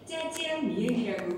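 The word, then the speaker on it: 炸酱面: 자장면은 중국어 발음으로 짜지앙 미엔이라고 부르는데 산동 자장면은 볶은 춘장을 면 위에 부어 채썰은 오이 등과 함께 비벼 먹습니다.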